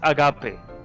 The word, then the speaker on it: agape: How do you pronounce that word? What? They both look like they're in a daze. Their mouths agape. Agape. Agape? Yeah, agape. Oh yeah. Agave is the plant.